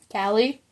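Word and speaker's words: Kali: actually a goddess about k a l i cie okay one I can't pronounce but it is spelled you guys want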